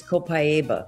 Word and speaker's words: copaiba: to pronounce it uh the Brazilian way is copaiba but either way it's